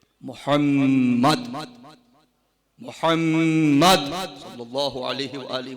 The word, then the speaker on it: Muhammad: The name is not Muhammad. It's not Muhammad. It is Muhammad.